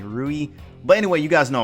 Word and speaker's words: Rui: the brother which was rudy i feel like i pronounced this name right wrong actually rui but anyway you guys